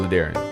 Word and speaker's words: La'Darrion: But today, I'm actually good with Ladarian. It rhymes with barbarian, librarian, grammarian.